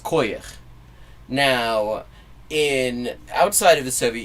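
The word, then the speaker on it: כוח: It's spelled the same way in Yiddish, in non-Soviet Yiddish, but it's pronounced koyach.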